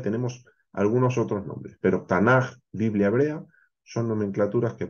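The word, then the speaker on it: תנ״ך: La CAF es una de las letras que en hebreo cuando se escribe a final de palabra toma esta forma y suena J. Por eso no tenemos tanac, sino tenemos tanaj.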